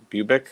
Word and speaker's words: Bubic: And what about Bubic? Is that how you say it? Bubic?